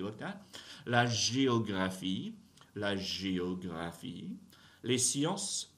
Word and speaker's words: sciences: La géographie, les sciences politiques, don't pronounce final consonants, right? So don't touch that S at the end of science. Don't touch that S at the end of politique.